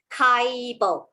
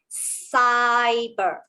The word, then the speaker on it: cyber: So for those who have not learned the soft C rule, you may read this as Kaibo, which is wrong. Okay, because in my soft C rule, it says that when C is followed by I, E, or Y, it actually says S. So I read cyber.